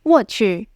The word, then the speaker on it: 我去: It's often said when something bad happens or when something surprises you, and we often pronounce it as "wò qù."